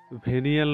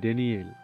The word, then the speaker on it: ড্যানিয়েল: আবির মায়ের ভুল শুধরে দিয়ে বলল, আরে মায়া, ভেনিয়েল নয়, ড্যানিয়েল।